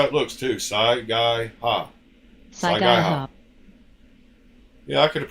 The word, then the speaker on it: Saiga: Saiga. Yeah, I could have pronounced that if I would have read it.